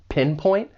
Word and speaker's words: pinpoint: For pronunciation, the verb has two syllables. The stress is on that first syllable, pinpoint. And I'd also like to point out that final T, it's really a stop T. It's pretty subtle, pinpoint.